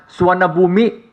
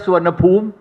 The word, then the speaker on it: Suvarnabhumi: Our language, Thai language, most of you landed at Suvarnabhumi airport. In India, you pronounce as Suvarnabhumi. In Thailand, we pronounce as Suvarnabhumi.